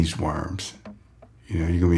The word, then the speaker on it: Worms: So, in German, the name is close closer to Worms or whatever, V O R M S. I guess that's how you say it.